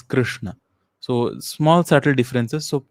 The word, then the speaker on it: Krishna: So it's not Krishna or Krishna, it is Krishna.